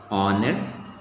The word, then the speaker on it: honor: h as silent okay h as silent you can say honor ghost night already we